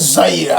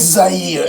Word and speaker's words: Zaire: I actually spelled it for them, and they couldn't pronounce the name. I said, yes, Zaire. I believe there's also a former NBA player, one of his children actually called Zaire as well. So it's Zaire, and it's a beautiful country at the very